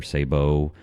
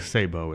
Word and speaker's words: sabot: think it's technically safe I think Sabo is how it's pronounced I'm gonna say steel I know say sabot yeah but I think it's Sabo just so that we